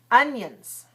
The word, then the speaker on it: onions: second one all right so if I say it slowly onions onions onions the first syllable is strong the second syllable is weak notice a difference now